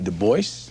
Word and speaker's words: Du Bois: W.E.B. Du Bois? Yes, he always insisted on that pronunciation.